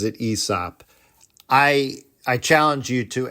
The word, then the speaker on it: Aesop: been saying out loud, "It's not Asop, it's ESOP." Well, even how you pronounce his name is controversial and unknown. I've always pronounced it Asop. My father, he pronounces it Esop.